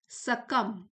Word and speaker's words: succumb: ऐसे अनिश्चितता के टाइम में इंडिविजुअल्स ऑफन सकम, सकम बी साइलेंट है, सकम टू the illusion of isolation. यहाँ इसकी प्रोनाउंसिएशन लिखी हुई है सकम।